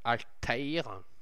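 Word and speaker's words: Altaïr: marqué alta donc on m'a dit de dire alTaire al voilà c'est comme ça qu'on me dit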